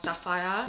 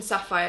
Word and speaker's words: Sapphir: But thank you so much to Faber for the House Sapphire. Wait, it's not even Sapphire. It's Sapphir. I think I've been pronouncing that wrong the entire time.